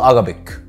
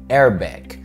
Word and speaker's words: Arabic: اغلبنا بيقول Arabic. اوكي اي سبيك Arabic، انا بتكلم عربي مثلا. اتس ايه ايه الايه الاولانيه مكسوره فبنقول ايه Arabic.